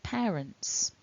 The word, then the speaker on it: parents: to notice is that we have two syllables in this word pair and the blue mark top left tells us that the strongest syllable is the first syllable pair so looking at that